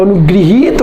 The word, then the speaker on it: अनुगृहीत: होता है, और जब अनुगृहीत बोलते हैं तो वहाँ पर गा व्यंजन के साथ री का प्रयोग करते हैं और उसका उच्चारण ग्रह न हो करके ग्री करते हैं, और ये शब्द हो जाता है अनुगृहीत, अनुगृहीत।